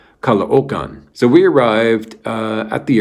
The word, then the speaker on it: Caloocan: She was from the suburb of Manila called Caloocan. Now, it looks like it's called Caloocan, okay? But if you say it that way, the people laugh at you. So it's pronounced Caloocan.